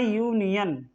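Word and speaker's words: union: तो you bubble है वैसे तो य ल है लेकिन उच्चारण इसका कैसा है उच्चारण इसका व्यंजन का है कंसोनेंट का है इसलिए इसके साथ में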